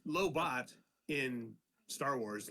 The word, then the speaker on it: Lobot: so is the T silent or do we pronounce the T well it's low bot in Star Wars lowo in uh DC Comics got it all right